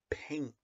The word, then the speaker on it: paint: haven't learned this yet this is the word paint when the a and I are together it has an a sound you don't have to